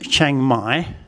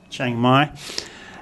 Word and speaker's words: Chiang Mai: So we get Chiang Mai, and the tone, if this becomes high class because of hoar heap, and it has the first tone mark, it becomes a low tone, Chiang Mai.